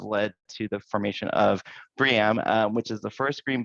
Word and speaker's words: BREEAM: And so the way I remember it for my own sake of mind is that you combine brie cheese and will.i.am from bucket peas together make BREEAM, and not BREEAM.